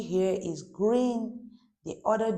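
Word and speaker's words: gris: Gree masculine grease feminine.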